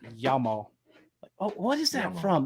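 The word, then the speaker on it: Jamo: say yeah i oh jammo is actually pronounced yama oh what is that from there's like a video big yamo oh you know what it is big hero 6.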